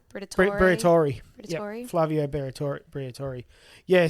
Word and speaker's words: Briatore: I can't pronounce it. It's not Bortol- Briatore. Briatore.